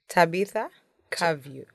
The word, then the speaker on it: Tabitha Kavyu: Just Tabita. Cavio.